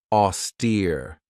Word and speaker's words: austere: This has 2 syllables, and the stress is on that second syllable with that long E sound, austere. If somebody or something is austere, it means that they're